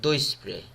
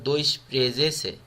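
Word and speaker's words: doisprezece: এখানে রোমানিয়ানরা উচ্চারণ করে দই স্প্রে, বাট এখানে অফিসিয়ালি উচ্চারণ হলো দই স্প্রেজেসে.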